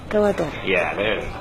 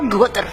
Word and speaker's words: Gwadar: Yeah, it's Gawadar, not so harsh like Gawadar. Gawadar. No, Gawadar. Gawadar. Yeah, there it is. Gawadar. Yeah, there it is. Gawadar. Not Gwadar. Not Gawadar. Gawadar.